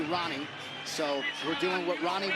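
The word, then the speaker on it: Rani: Well, before the pronunciation police goes crazy, I know you think it's Hani. He wants to be Ronnie.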